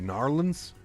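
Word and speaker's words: New Orleans: We've got Narlands. Gotta say Narlands.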